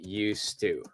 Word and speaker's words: used to: to be I am used to okay if it's she she is used to okay we are used to okay the pronunciation again D is silent the D is silent all right so when